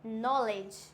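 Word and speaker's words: knowledge: नॉलेज क्या होता है? ये नॉलेज। क्या नॉलेज नहीं होता है, ये होता है हमारा नॉलेज। यहाँ पे के होता है साइलेंट।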